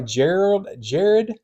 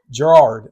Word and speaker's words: Gerard: This is directed by Jared Johnston. Is it Gerard? Gerard. That's how you say it.